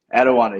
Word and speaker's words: Etiwanda: So, 2019 was the year you were drafted, fourth round pick, Eddie Wanda High School. Am I saying that right? Etiwanda, yes, sir.